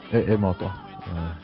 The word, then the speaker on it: Emoto: Emoto, Japanese pronunciation.